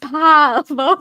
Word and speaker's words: pavlova: It's pronounced pavlova.